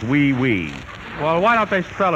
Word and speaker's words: oui: a material particle ah Hui Hui Monsieur great a manner that's pronounced oui oui well why don't they